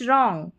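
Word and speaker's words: wrong: जैसे right रॉन्ग ठीक है? डब्ल्यू साइलेंट और यह है रेस्ट।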